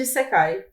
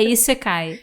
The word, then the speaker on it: Isekai: E o episódio 25 é o Todo Mundo Gosta de Isekai. Boa. Eu sei que teve uma questão dessa de qual era a pronúncia, agora eu não me lembro. É Isekai.